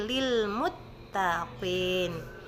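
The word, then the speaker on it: لِلْمُتَّقِينَ: suara toh dia ya jadi baca huruf itu harus adil Berikan dia sesuai yang dia miliki jangan dilebih-lebihkan atau ditawarkan jadi bacanya Lil mutta jadi mulut kita dibuka jadi dibaca secara Infitar pada saat kita ya Jadi tidak dibaca moto tapi Lil Muttaqin kemudian kita masuki ayat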